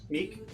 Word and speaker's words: Meek: So, and then I will also my my name is Meek, but humanoids find that hard to pronounce.